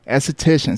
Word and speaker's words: esthetician: talked about this before how do you say it again a cetacean esthetician so your licensed esthetician yeah